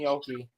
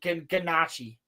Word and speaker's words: gnocchi: I bet you there's nowhere in the world where it's pronounced ganache.